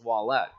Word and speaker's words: Ouellette: And the Rush ended up playing the Reading Royals, and Martin Ouellette was the goaltender, but that's how you pronounced his name, was Ouellette. Pitch hit up the middle.